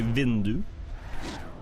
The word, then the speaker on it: vindu: We say vindu.